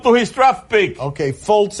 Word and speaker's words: Fultz: Okay, Fultz is the way the name is pronounced.